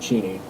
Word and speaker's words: Cheney: And just for clarification, everybody gets it wrong, but my last name is pronounced Cheney. Cheney?